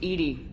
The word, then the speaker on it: EDI: airlock is a jar why are you named Ed Ed is the phonetic pronunciation of e that is an acronym for